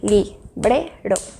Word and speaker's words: librero: Librero. Entonces, bre suena más fuerte, por lo tanto es la sílaba tónica.